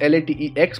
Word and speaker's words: LaTeX: and paste it over here the spelling is la te X but it is pronounced as latex okay so this is all